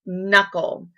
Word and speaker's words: knuckle: silent K, as in knuckle. Okay, you cannot hear the K sound. It sounds like it should start with an N, but it doesn't.